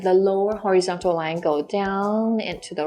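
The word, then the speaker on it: 读: that your friend has already read the text do means to read and E already so e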